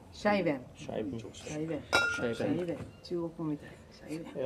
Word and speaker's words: Scheiben: The pronounce is a シャイ Scheiben. シャイベン。